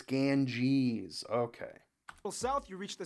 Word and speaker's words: Ganges: G GES and its tributaries flow it is pronounced Ganges I always I keep forgetting this I want to call it like gang gang gangis like he said ganga but it's Ganges okay South you reach the Sakura and vinda